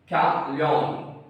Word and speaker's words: chameleon: कैमलियन CHAMELEON कैमलियन।